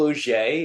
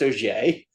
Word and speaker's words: Auger: Well, uh, as you said, uh, my name is Oier. It's one of those weird French names that sounds nothing like it's, uh, spelled. It's spelled A U G- R, but pronounced OE.